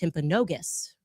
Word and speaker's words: Timpanogos: I'm I'm told actually it's pronounced Timpanogos, okay?